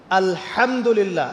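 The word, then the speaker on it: الحمد لله: আলহামদুলিল্লাহ। এই হা এর মাখরাজ কোথায়? হা এর মাখরাজ কোথায় বলেন একজন? কণ্ঠনালীর মাঝখান থেকে। এখান থেকে আপনি উচ্চারণ করছেন আলহামদুলিল্লাহ রব্বিল আলামিন।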